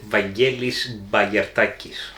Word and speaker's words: Vangelis Bagiartakis: And this game is designed by, and I'm going to ask my trusty assistant over here to pronounce his Greek with his Greek accent. Varnavas Timotheou and Vangelis Bagiartakis.